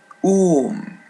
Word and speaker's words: um: A or N for the mascan single words is om ends with letter M and it's pronounced as English m air for the feminine single word.